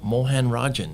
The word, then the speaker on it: Mohanarajan: He's Paro Mohanarajan. Did I pronounce that right?